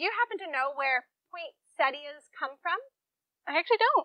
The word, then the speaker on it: poinsettia: Except Stacy, I don't think it's pronounced poinsettia. It's poinsettia. I thought I was happy to have Kelly here with me. So wait, you're saying that the plant that I'm doing the entire video on, I'm pronouncing wrong? Poinsettia. Poinsettia. There's no T. But there's two T's in. Not right here. Oh, so I'm saying point. Exactly.